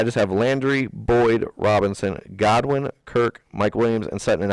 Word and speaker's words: Godwin: and then you got Godwin to me God one's on oh I thought it was Goodwin oh no Godwin's Buccaneers oh I just butchered